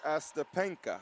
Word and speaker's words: Astepenka: I think her name may be pronounced Astepenka. Astepenka, yes.